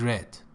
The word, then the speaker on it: read: Simple past tense of read is read. The spelling is the same, pronunciation changes.